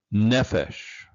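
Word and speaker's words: נֶפֶשׁ: Next noun, nephesh. Nephesh. Accent on the first syllable.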